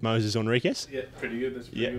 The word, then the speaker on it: Moises Henriques: Uh, I think I'm pretty sure it's Moses Henriquez, but uh, I've heard of so many variations now that I'm fairly confused as well. We probably keep being pronounced the wrong way anyway, but um, there you go. That's how it is. How is it, Mitch? How's it go? I'm just going to stick with Moses Enriquez.